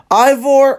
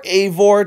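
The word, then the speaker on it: Eivor: ruthless like she is ivore or aore depending on how you pronounce it Ivor is a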